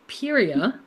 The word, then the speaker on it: Pieria: We've been talking about In the Roses of Pieria. I've asked you at GCLS how to pronounce that, and you said, I don't know.